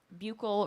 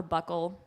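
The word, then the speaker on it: buccal: So we thought about this micro doing opportunity and what we came up with was bugle or buckle pronounced both ways I think ketamine.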